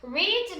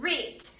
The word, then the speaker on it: read: gente pronuncia deste jeito, read. No passado simples eu vou pronunciar read. Yesterday I read a good novel. Ontem eu li um bom romance. Então read no passado, read no presente, read no passado.